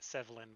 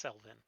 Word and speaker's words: Selvin: I keep mispronouncing it Sevlin, but it's Selvin.